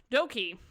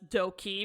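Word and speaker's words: Dok2: all right doki the first co ceo uh which is pronounced as doki because the way to is pronounced in sino-korean is e so you're wondering why it's doki so he is a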